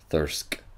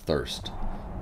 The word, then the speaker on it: Thirsk: go back to thirst thirsk and uh i keep pronouncing it thirst and i'm sure that's